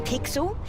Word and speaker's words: Pixel: is not weird guy I'm pixel it's easier remember because it rhymes with pickle so does not foster